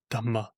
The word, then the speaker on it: dhamma: Uh but but that's supposed to be hard to pronounce for ordinary people. Uh so in poly and many brackets they'd say dhamma dhamma.